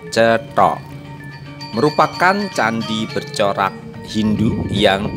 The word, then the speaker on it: Cetho: Candi Cetho, di mana dalam ejaan bahasa Jawa secara Latin C E T H A, atau bisa dibaca dengan sebutan Cetho, merupakan candi bercorak Hindu